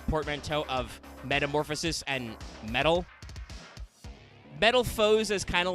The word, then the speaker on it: Metalfoes: of metamorphosis and metal metal foes as kind of like a weird pronunciation of metal fuse i think works though